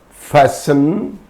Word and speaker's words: fasten: So, for example, Christen, it's not Christen, Christen, fasten, listen, hasten, etc. There are so many words. So if a word ends in STEN, there T is silent.